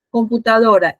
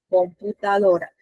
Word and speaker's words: computadora: Computadora. ¿Cuál es mi sílaba tónica? ¿A dónde recae? ¿En qué sílaba? En la penúltima. Marian dice que es la penúltima. ¿Quién dice que está de acuerdo o quién dice todo lo contrario? Muchachos. Sí, la penúltima.